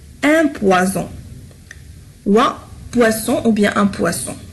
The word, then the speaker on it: poisson: Regardez, poison, poisson. هنا لفظناها ز وهنا لفظناها س. لماذا؟ لأن هنا لدينا un seul S وهنا لدينا double S. يعني un seul S va changer la prononciation et aussi la signification.